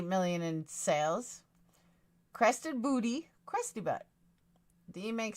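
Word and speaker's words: Crested Butte: no that's Eugene uh it's not pronounced boot it's pronounced booty Miss crusty butt if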